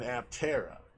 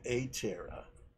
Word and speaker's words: Aptera: want to say i did a video on aptera or it's actually a terra is supposed to be pronounced which is the three-wheeled vehicle which i